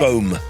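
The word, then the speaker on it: Boh: Would you say it like that? Boom. Boom. It's a kiwi.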